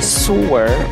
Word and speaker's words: sewer: Some would say sewer or sower. Let's get to know how to pronounce this. The first way to pronounce it is sewer, rhyming with the word newer.